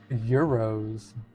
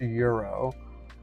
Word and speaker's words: gyro: no I'm pretty sure it's pronounced Euro there's been a little bit of a debate on that I don't know tell me if I'm wrong I don't know at least most people I know pronounce it as hero CU I first off